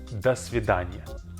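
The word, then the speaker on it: до свидания: course so we say this next word is dasvidania and it means goodbye this one is formal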